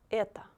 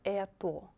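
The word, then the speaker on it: это: it will be ah the last word is eta eta not eto it will be etta because o is not stressed so if we're talking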